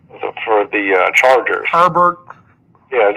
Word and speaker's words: Herbert: I don't know where he grew up, but it's Hebert all day long anywhere else in the world, but it's Herbert. Herbert.